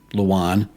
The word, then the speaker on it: Lujane: According to Elaine Hale-Jones, who's written several historical books about the valley, residents use both Luwana and Lujane. But according to McCollum's daughter, as about as close to the source as it gets, it's Luwan.